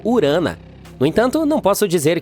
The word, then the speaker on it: Urano: Bem, estamos chamando Urano de forma errada todo esse tempo. Os astrônomos dizem que deveríamos pronunciá-lo como Urana.